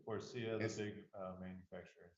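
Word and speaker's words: Faurecia: Forcia. Forcia, the It's- big manufacturer in Saline. How do you spell that?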